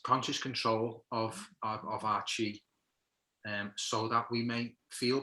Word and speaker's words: Qi: So it's spelled Qi for Qigong, but it's like the Qi that you see, which is the same as Chi, Qi, as in Tai Chi and stuff like that.